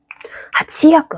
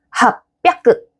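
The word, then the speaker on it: 八百: 하치야크, 하치야크. 얘도 힘들어요. 하치야크. 하치야크. 힘듭니다. 그래서 얘도 바꿔줘요. 하치비야크. 하치비야크? 더 힘든데? 그래서 로비야크와 마찬가지로 합비야크. 합비야크. 어때요? 하치야크보다는 합비야크가 좀 더 편하죠.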